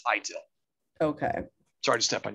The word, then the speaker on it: ITIL: do i say it itil yes some people say itil oh this will go idle but i've pronounced it for a long time and that's the way most people do is high till okay sorry to step